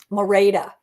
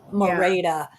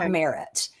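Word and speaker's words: Merete: Mora, that's how you say her name. Mora, not Merit.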